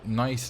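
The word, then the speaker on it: gneiss: rocks there's a YouTuber called nice name although you spell it like you spell nice like g n e i SS and his videos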